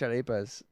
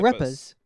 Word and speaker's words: arepa: And his mom made us fresh arepas.